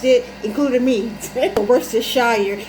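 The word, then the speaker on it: Worcestershire: don't know how to pronounce it including me versus shire it's the right pronunciation though okay thank you so much that's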